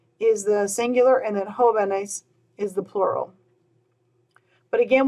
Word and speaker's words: jóvenes: mark there is because I want the word to still be pronounced joven, with the stress being on that first syllable, like it was in the singular.